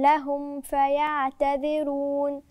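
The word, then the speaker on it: لَهُمْ فَيَعْتَذِرُونَ: برضو الميم مش باينه. لهم فاء، خلي بالك الميم والفاء، ما فاء الاثنين فيهم قرب، لازم اظهر الميم صح، لاما هتتاكل وسط الفاء لانهم الاثنين من الشفاء، ميم فاء، فخلي بالي وانا بنطقهم اظهر الميم عشان ما تتاكلش في الفاء، فتهيأ لي انها ادغام ودي مش ادغام، او اخفاء وهي مش اخفاء انما هي اظهار. ولا يؤذن لهم فيعتذرون ويل يومئذ للمكذبين.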